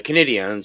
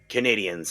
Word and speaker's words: Canadiens: The name was chosen to pay tribute to the French-speaking community in Quebec, the Canadiens or Les Canadiens. Notice how it is spelled with an E at the end instead of an A.